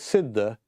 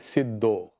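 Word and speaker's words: सिद्ध: So the Sanskrit pronunciation is Siddha. The Bengali will pronounce it Siddho.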